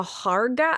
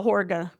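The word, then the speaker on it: Hårga: The Harga? I'm so sorry. I'm not pronouncing any of these words right. The name of his group is called the Horga. Oh, Horga. The Horga. I think it's with an H, but I the way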